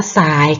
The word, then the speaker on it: ทราย: ค่ะ ต่อ ไป ค่ะ อัน นี้ อ่าน ว่า อะไร คะ เนื้อ ทราย เนื้อ สาย ค่ะ เมื่อ กี้ นะ คะ ทร เปลี่ยน เป็น ตัว สอบ สู้ ค่ะ ไป ต่อ ค่า